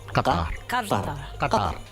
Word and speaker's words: Qatar: The official pronunciation of my country is Qatar. Qatar. So go ahead and close your throat a little bit. Make sure you say ta instead of ta, and you get Qatar.